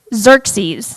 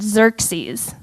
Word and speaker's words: Xerxes: have some fun characters so we have king xerxes that's how you pronounce that i had to look it up like three times and listen xerxes cool um we have heyman who is the